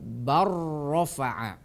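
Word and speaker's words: بَل رَّفَعَهُ: Jadi pelafalannya bukan bal rafa'a, akan tetapi dilafalkan bar rafa'a.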